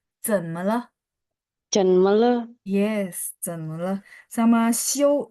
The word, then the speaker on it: 休: Sama show, jadi kan dia XIU. Pas 嗯， baca, X-nya kan berubah jadi S ya. Nah, iya, IU itu bacanya IOU. Show. 有 Bacanya ya, tulisannya XIU.